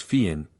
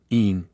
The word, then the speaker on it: Finn: Finn, in various inflections, is pronounced Fian, Een, Yun.